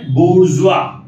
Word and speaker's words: bourgeois: ठीक है, तो पहला word है आज का B-O-U-R-G-E-O-I-S, इसका pronunciation है bourgeois, pronunciation क्या है bourgeois, इसका meaning होता है